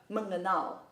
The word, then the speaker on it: mengenal: on the e But the e in mengenal is pronounced as a schwa, in the middle Not to the top,